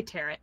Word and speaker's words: tarot: I say tarot because it looks like carrot.